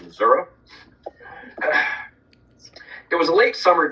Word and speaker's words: Missouri: And if you pronounce it Missouri, you'll get in trouble. It's pronounced Missouri.